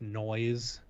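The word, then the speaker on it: NOIS7: then finally july 3rd i'm going to assume the name is pronounced noise n-o-i-s-7 oh no no all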